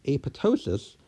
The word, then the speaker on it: apoptosis: it so the term a puto --ss coined in 1972 newspaper they specifically said that the P should be silent the second P should